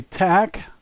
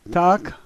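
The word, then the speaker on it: так: like we would but if an American read this word he would say tak the Russian say doc and that's the only difference the letters you see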